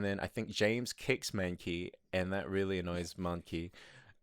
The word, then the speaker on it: Mankey: i think james kicks manky and that really annoys monkey and counts and hear it now james kicks monkey it's not ma it's man look